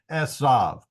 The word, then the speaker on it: Esav: middle of it but the word back does not have the doggish so instead of being pronounced as a b it's pronounced as a V and back can be spelled either way uh but the uh the What's called the Soft Bait and the VAV are pronounced the same so that solves it for me so that's why call him esav some people are going